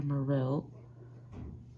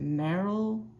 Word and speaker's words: Marill: saw I had a Marill and wanted to trade. And she said that she would trade an Eevee for my Marill. I know, I think you're supposed to pronounce it Meryl.